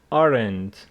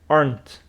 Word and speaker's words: aren't: two syllables for example some students go aren it's incorrect it is aren't run it is one syllable if you say weent it is two syllables and that is incorrect let's listen to the